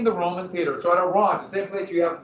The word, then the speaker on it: Orange: The town's called, okay, it's spelled like in English it'd be orange, but it's orange.